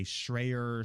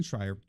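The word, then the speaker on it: Schreier: the way one thing why does everybody get Jason fryers name wrong they say shreyer Shrek or whatever it destroy her I don't understand Jason Schreyer he wrote blood sweatin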